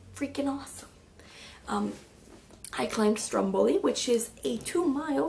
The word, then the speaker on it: Stromboli: Jenny Bender um Stromboli which in Italian is pronounced Stromboli It's actually an island